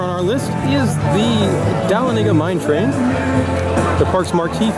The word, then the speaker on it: Dahlonega: How do you pronounce this ride? Dahlonega. Dahlonega. Dahlonega.